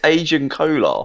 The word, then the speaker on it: Agen Kolar: It's Agen Kolar.